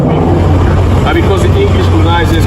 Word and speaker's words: Quaque: His name is not pronounced Quaque. His name is pronounced Kweku.